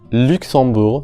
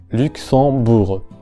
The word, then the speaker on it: Luxembourg: Luxembourg, de nuevo la vocal U en la primera sílaba, Luxon. Tenemos aquí a la vocal nasal on, que es como una O del español, considerablemente más abierta y obviamente nasalizada. Y en este caso la letra X representa a la combinación sorda X, como la X del español. Luxembourg. En la última sílaba la vocal U como la del español. Bourg.